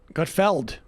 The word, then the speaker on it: Gutfeld: regular basis is it is it not gutfield no i gotfeld well i thought this